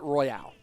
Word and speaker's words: Royale: that woke me up is it pronounced Clash Royale or Clash well okay the thing is the E makes it Royale so M me Mick Steve if you're trying to say Clash Royale versus Clash royal royal would not have